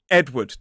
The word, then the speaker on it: Edward: Edward. 2 syllables, stress on the first. E-D. Ed. W-D. Edward. It looks like Edward, but it is Edward.